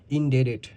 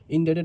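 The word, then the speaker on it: indebted: ইনডেডেড, ইনডেডেড অর্থ ঋণী। এখানে কিন্তু একটা বি আছে যেটা ডি এর মতো উচ্চারণ হবে, মানে বি আর টি একসাথে মিলে ডি এর মতো উচ্চারণ হবে।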